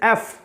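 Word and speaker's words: F: एफ आप बोलते हैं, इसका प्रोनाउंसिएशन ज़्यादातर लोग यफ के तौर पे करते हैं। This is wrong, totally wrong. This is एफ नॉट यफ, क्योंकि ये कॉन्सोनेंट से ना होकर के वॉवेल से शुरू हो रहा है।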